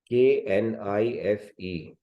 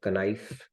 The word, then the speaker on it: knife: the teacher told you k n i f e is knife and you simply accepted it and did you argue with the teacher why not kif right K is silent just accept it so